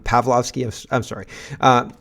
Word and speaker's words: Pavlovski: the CEO of Rumble Chris palowski palowski I'm getting his name wrong I'm pavlovski I'm sorry uh it's